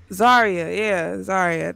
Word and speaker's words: Zarya: Yeah, I've been using Zara. Is that her name? That's how you pronounce it?